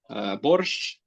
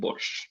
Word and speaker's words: борщ: It's obvious, right? Borshch. Borshch. Borshch. Borshch. Borshch. Like train. Borshch. But not soft one. You are softening it. Borshch.